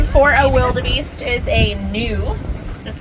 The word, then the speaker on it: gnu: Yeah, another name for a wildebeest is a gnu. That's spelled G-N-U.